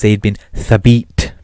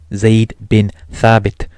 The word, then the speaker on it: Zaid bin Thabit: pronounce arabic names properly he couldn't pronounce they'd been thrabbed properly he says it as they'd been sabite the funny thing is the text is in english zaid bin thabit may allah be pleased